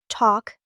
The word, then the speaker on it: talk: Talk. The L is barely there.